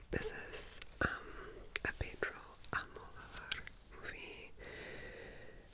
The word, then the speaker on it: Almodóvar: This is um a Pedro Almodóvar movie. I always put the emphasis on the wrong uh syllable of his last name, but Almodóvar.